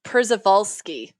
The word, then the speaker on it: Przewalski: think kind of haunting i have the pronunciation it's perseverant persevolsky kurzawalski i will remember that